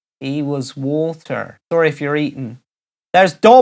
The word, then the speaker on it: Hewaswater: Carol Powell says Hewaswater. She's heard it pronounced he was water.